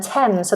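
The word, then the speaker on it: Thames: lad one says um T so the river TS in London is also pronounced T not th good one I hadn't thought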